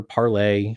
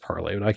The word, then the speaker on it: Parler: parler doesn't polish parler parlay but they say it's pronounced parlor I can't help but